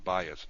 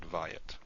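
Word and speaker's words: בית: So the Dagesh Lene is there and it's pronounced bayit, not vayit.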